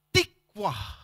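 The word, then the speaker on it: תקווה: harapan kata itu dipakai kata tikwah tulisannya tikfah tapi bahasa Ibrani bacanya ada unsur w-nya tuh kasih unsurw dikit tikwah nah Apa arti kata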